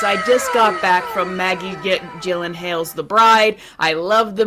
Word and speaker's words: Maggie Gyllenhaal: So, this is how you pronounce her name. Maggie Gyllenhaal One more time. Maggie Gyllenhaal So, she is she saying it wrong on purpose?